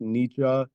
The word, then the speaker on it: Nietzsche: in the comments yeah like the thing with Nietzsche is like I've always said in Nikki I know it's supposed to be pronounced Nietzsche but when I'm reading like I just don't